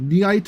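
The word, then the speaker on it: Nyaight: It's called Nite of the Living Cat, but it's spelled N Y A I G HT of the Living Cat.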